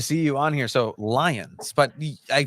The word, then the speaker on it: Lyons: So Lions, but I pronounced it.